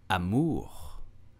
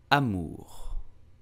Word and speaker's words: amour: mean love in English so how do you pronounce love French you will say Amour Amur amor we use this word a lot but do